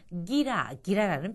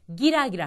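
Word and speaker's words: ギラギラ: 기락기라 하면은 번뜩거리다 또는 뭐 이글이글 눈빛이 타오르다 뭐 이렇게 얘기할 수 있는데 발음을 보면은요 키라키라 기락기라 즉 허진 비슷한데 발음이 조금 달라짐을 해서 엄청나게 큰 어감의 차이를 가지고 오지 않습니까?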